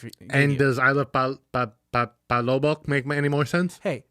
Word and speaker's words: palabok: And does I love palabok make any more sense? Hey, do not insult my culture. I actually honestly forgot how to say it. Palabok.